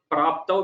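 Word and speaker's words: प्राप्तौ: And the next also kshetra praptau, praptau we say. So the pakara, it's like as if we have an extra pa. It is not there actually, but that is how we have to pronounce that.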